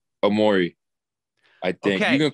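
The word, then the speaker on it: Omoruyi: And we called him Omorui, and then we were told that he was like, no, you're saying it wrong. It's Omori. And we were like, oh, okay. So we called it Omori. And then we were told, no, he says it's Omori now.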